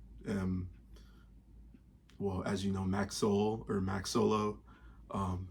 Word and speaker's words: MackSolo: well as you know Max Soul or Max solo um which is really how the name is pronounced it's Max solo but Max soul I